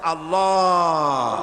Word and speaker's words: আল্লাহ: পাকের নাম উচ্চারণ হচ্ছে আল্লাহ মুখটা একটু গোল হয়ে যাবে বলেন আল্লাহ আল্লাহ পৃথিবীতে বিভিন্ন জাতি